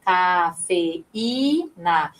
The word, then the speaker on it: cafeína: É o caso também de cafeína, ó, cafeína. Veja que o I, ele também tem uma pronúncia forte junto com o E.